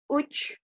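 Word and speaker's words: üç: 3, uch. Uch. Nah, perhatikan ya cara pengucapannya uch. Uch. Sambil maju sedikit.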